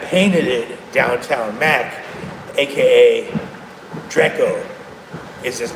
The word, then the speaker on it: Drakeo: it downtown Mac aka Draco is his name. D R E Ko, not to be confused with Draco the ruler, but his name Draco also, right? Spelled differently, pronounced slightly differently, but you get the gist.